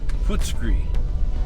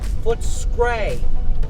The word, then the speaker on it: Footscray: Let me spell that again. There's your mom beach seals. F-O-O. F-O-O-T. S-C-R-A-Y. Footscree. Footscray.